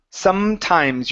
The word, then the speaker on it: sometimes: Okay, instead of N as in Nancy, it's sometimes. Your lips need to touch.